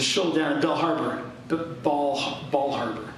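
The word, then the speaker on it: Bal Harbour: There's a shul down in Bell Harbor, Ball Harbor, not Bell Harbor, Ball Harbor down in Bal Harbor.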